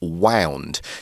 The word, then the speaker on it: wound: that sentence we've got the word wound now that is the either the past tense or the adjective form of wind so you wind The Wire around it so it's